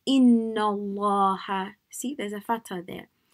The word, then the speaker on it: Allah: If the lam has a fatha or a dhamma, a or a u on top of it, then it will be pronounced with a full mouth. Like if you had Allah, you don't say Allah, you say Allah, like a round face.